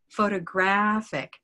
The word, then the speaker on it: photographic: know where it is it's not photographic and it's not photography it's photographic photographic blackcat photographic yeah so stressing the correct